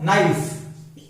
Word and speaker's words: knife: देखिए जब भी के बाद एन आता है तो फिर हम के को साइलेंट रखते हैं, K is not pronounced.